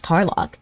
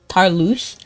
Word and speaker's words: Tarlock: How do you pronounce Tarlock? I say Tarlock, but I feel like some people name it differently. I feel like I saw one person call him Tarlouche, which was absurd to me.